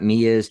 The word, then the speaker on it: Mia: And I've got Mia's. By the way, Mia did phonetically type it for us. Mia. So we did say it right.